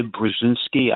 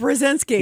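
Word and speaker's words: Brzezinski: Like for instance, Carter, he had uh Ze Brazinski. I'm not pronouncing it right. Brzinski.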